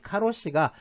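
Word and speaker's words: 過労死: 한자 저희 과로사 그의 그 일본식 발음이 이 카우 씨의 카로 씩 그래서 이 카로 씨가 국제적인 용어가 됐습니다 우리나라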